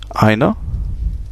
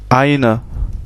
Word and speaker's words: eine: eine Sonne, eine Frau, on a vu cette diphtongue E et I, ei, qui se prononce ei, donc eine Sonne, eine Frau, et ein Automobil, ein Kind, tout simplement.